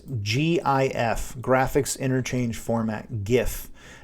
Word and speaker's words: GIF: um let's see gifs gifs gif graphics interchange format gif now some people pronounce this gif they're wrong in my opinion i like i pronounce it gif so gifs are animated